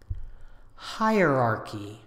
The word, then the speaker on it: hierarchy: adjective is anxious anxious hierarchy hierarchy you can think of this as two words higher and archy hierarchy the adjective hierarchical